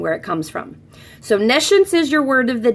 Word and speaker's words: nescience: knowledgeable about it, and nescience would be the opposite of that. It's just pronounced a little differently than the word science.